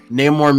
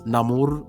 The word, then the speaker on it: Namor: I don't give a single fuck because people are also mad about the fact that his name is Namor, not Namor, because they have it like with a more Spanish dialect.